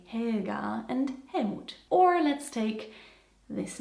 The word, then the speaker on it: Helmut: Other German names that contain hell are, for example, Helga and Helmoot. Even though Germans of course say Helga and Helmut or let's take this name.